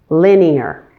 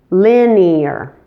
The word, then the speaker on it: linear: But make sure to pronounce it as 3 syllables with stress on the first syllable. Linear.